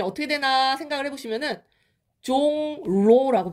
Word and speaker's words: 종로: 중심지가 뭡니까 종로3가 종로5가 종로가 있죠 자 얘 발음이 어떻게 되나 생각을 해보시면은 종로라고 발음이 안 되고 종로라고 발음이 돼요 종로 종로 자 어디가 바뀌었죠이 리을이 니은으로 바뀐 거 보이죠 근데 무엇을 영향을